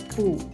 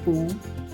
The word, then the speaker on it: 不: The character 不 is pronounced with fourth tone when followed by all tones except for the fourth tone.